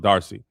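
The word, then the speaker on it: D'Arcy: Emma Emma Is it Darcy? Okay, so the apostrophe is just there like how black people like apostrophes. It's just pronounced Darcy. Uh you might as well go ahead and hand Emma Darcy an Emmy for that episode.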